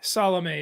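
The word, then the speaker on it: Salameh: there was a reason salome is his name s-a-l-a-m-e-h so uh yeah i believe that's how you pronounce it yeah so okay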